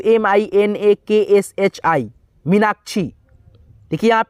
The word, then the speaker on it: मीनाक्षी: ठीक है, यानी कि छी, सिंपल उच्चारण हो रहा है। ठीक है, यही खींच करके होता मीनाक्षी ऐसे होता तो हम लोग यहाँ पे डबल ई लगाते, लेकिन यहाँ पे सिंपल उच्चारण है छी का, तो यहाँ पे आई लगाएंगे। ठीक है, समझ गए?